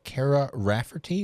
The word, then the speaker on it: Kara Rafferty: Her name's Kara Rafferty. Is that how you say it? That's how you say it, and I think everyone pronounces her name differently, and she's used to that.